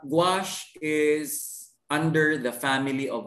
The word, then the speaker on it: gouache: knowledge sir okay uh actually it's gouache no it's pronounced uh gouache is under the family